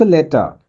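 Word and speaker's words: later: हो गया many months लेटर ये जो लेटर है लेटर इसमें आर का बहुत कम उच्चारण होता है अगर आप ध्यान से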